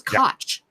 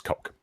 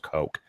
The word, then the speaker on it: Koch: I thought it was Koch no it's coke I mean I hear ya its belt chaos eh but that's a German name and it's pronounced coke like as in coca-cola or the white powder yeah it's like the